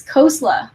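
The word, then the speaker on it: Khosla: name is indian and i would tell people it's cosla like the salad and you can correct people gently if they get your name wrong so my name is pronounced many different ways but the correct way is coleslaw just put people at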